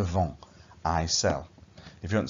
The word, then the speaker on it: vends: So if you want to say I sell, je, you say add on an S. And you don't really pronounce it, so it's just je vends, I sell.